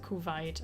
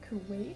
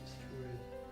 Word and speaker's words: Kuwait: Kuwait. Kuwait. So kind of like just coup and wait.